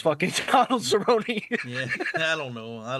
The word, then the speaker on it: Cerrone: wrong, it's fucking Donald Cerrone. Yeah, I don't know. I don't know what I was thinking. I just know his name so well because it rhymes with baloney, my guy.